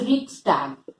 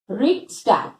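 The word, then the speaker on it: Reichstag: And हमारे यहाँ पे पार्लियामेंट कहते हैं, जर्मनी में it was called as Riksdag. Riksdag. Please remember the pronunciation also.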